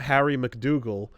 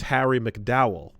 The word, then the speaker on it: McDougall: It's not Harry McDougall, it's Harry McDow.